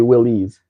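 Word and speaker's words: Willys: Bar says, "I found out recently that it's said like Willis, not Willis. I can't pronounce the difference." Sorry. It's supposed to be Willies, but I'm going to stick with Willis.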